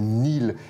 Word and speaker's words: Nail: À part décrocher, d'abord, le spectacle s'appelle Neil, et ça s'écrit en français Nail, mais c'est Neil pour Neil Armstrong, évidemment.